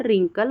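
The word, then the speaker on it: wrinkle: W silent हो जाता है। जैसे कि wrong, right, wrong, right, rap, wrapper, रिंकल और रिस्ट।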